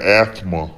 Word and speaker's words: asthma: already know i got asthma uh you don't have to pronounce the th in that but you know uh